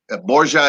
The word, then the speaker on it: Borgia: Borgia is the Italianized name of it.